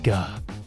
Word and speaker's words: Ge: It's Ge. You know what? Yeah. I always thought it was, I think most people probably pronounce it Ge or something.